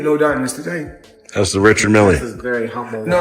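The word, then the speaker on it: Richard Mille: No, I like to call this Well, they people pronounce them different ways. Rashad Mill is what my jeweler told me. So, that's exactly how you say it, Michelle. Rashad Mill.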